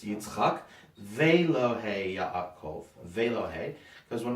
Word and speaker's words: Yitzchak: It's a hard word to pronounce because it's Yitzchak.